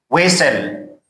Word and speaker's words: whistle: Whistle. And this is S-T-L-E. Whistle means اشپلاخ کردن, چرک زدن. And this T is silent.